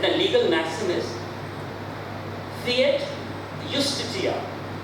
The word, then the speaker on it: justitia: And the legal maxim is fiat justitia. J is pronounced as ya. Justitia.